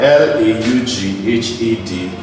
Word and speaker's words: laughed: If I have with F, I could have LAUGHED, and this is pronounced as laughed. The reason it's T is because the sound here is F.